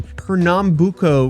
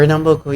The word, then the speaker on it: Pernambuco: So, meet Monique Because Veiros Fraga, a 27-year-old content creator from I mean, he pronounced it pretty well, the Fraga. Pretty well. greater Recife area in Pernambuco, Brazil. Pernambuco, yeah.